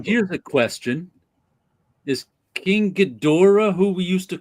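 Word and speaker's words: Ghidorah: it is is that when we were younger it was pronounced one way because that's how the the the the movies we were watching dur they Americanized all the names right so they Americanized the names so it would be gadora and then you have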